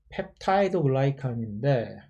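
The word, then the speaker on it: 펩티도글리칸: 펩티도 글리칸, 원래 영어 원어 발음은 펩타이드 글라이칸인데 한국말로는 펩티도 글리칸이니까 이런 거 보면 한국어와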